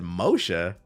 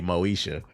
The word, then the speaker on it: Moesha: And I said, Moshe? I was like, oh, that's AI, because it meant to say Moesha. But the AI didn't know how to pronounce it.